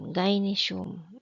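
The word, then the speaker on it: gynaeceum: sila sa ah women's quarters or tinatawag nilang gyinesum. Tama ba 'yung pagkakabigkas ko? Wait lang tingnan ko muna ah. Ayun tama ngaum sulat dito gy n a e c e u m ginesum ayan hirap magsulat dito Oo.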